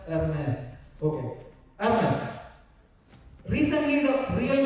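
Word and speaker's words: Hermès: a brand called Hermes I've been told it is to be pronounced as Hermes okay Hermes recently the real making value of this thing has come out has $1,100 to make it.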